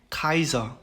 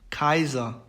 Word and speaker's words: Kaiser: 그 다음에 이제 AI, AY, EI 이렇게 세 개의 경우에는 발음을 I라고 얘기를 합니다. 그래서 Kaiser, Kaiser, Bayern, Bayern, Heißen, Heißen 이렇게 발음을 합니다.